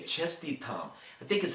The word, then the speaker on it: Čestitam: Čestitam, momsi. Is that how you say it? Čestitam. That's a tough one for me to say. Čestitam, I think is how you say it.